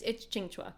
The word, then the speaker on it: Qingque: Okay, I love it's Chingua.